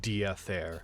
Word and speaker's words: Diather: Spelled like death air, but pronounced Diather. Like deity, Diather. Diather. It's vaguely Gaelic. So you gotta get that Dia.